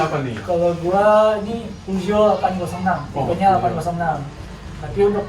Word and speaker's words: Peugeot: Karena banyak orang bingung nyebutin nama brandnya atau punya pengucapan sendiri lah. Yang pertama ada Pijet, yang kedua T-shirt, yang ketiga Peugeot. Oke.